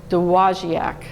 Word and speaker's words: Dowagiac: The town's name I had to practice, it's Dowagiac. I can't spell it, but I'm learning to pronounce it.